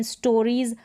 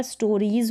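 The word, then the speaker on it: stories: स्टोरीज, IE है, जैसे rule बोल रहा है, फिर एस है तो यहाँ पर स्टोरीज पढ़ रहे हैं, स्टोरीज स नहीं पढ़ रहे, स्टोरीज।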